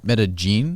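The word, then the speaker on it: Medellín: can't pronounce anything its Medellin if you pronounce it like Spanish you know with the double Ellis would be like Medellin but colloquially and they're they pronounced double ELLs like a hard J like meta-gene meta-gene yes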